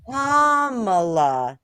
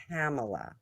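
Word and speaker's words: Kamala: don't even care what her name is anymore comma not camela say yes I said comma and they're like you're a little too trumpy and I'm like screw off I don't know how to say her name stupid president doesn't know how to say her name so I don't care well if you said it like kamla Harris then you would be really trumpy oh so so yeah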